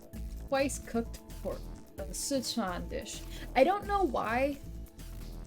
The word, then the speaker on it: Sichuan: z e from because it's it's sichuan not set on not not or as they pronounce that szechuan it is made by